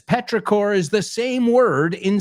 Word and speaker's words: petrichor: Petrichor, yeah, en inglés, o sea, la misma palabra, pero es chor, pero no se pronuncia como chor, se pronuncia exactamente igual.